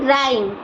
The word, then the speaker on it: rhyme: RHYME राइम, राइम तुकबंदी जो छोटे बच्चे करते हैं।